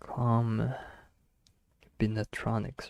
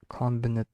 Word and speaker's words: combinatorics: Wait, how do you say that? Jesus, combinatronics, right? Combinatorics.